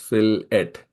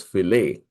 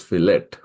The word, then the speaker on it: fillet: it comes to engineering the word fillet is pronounced as filet as an ET is